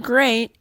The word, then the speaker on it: great: Well, in the word great, EA is pronounced A.